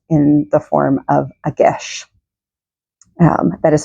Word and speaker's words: geis: comes to us in the form of a Gish um that is spelled geis s um and it is an